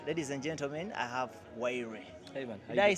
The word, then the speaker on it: Wyre: Ladies and gentlemen, I have Wyre. Hey man, did I say it right? Yeah, exactly. Someone was saying my pronunciation is not okay.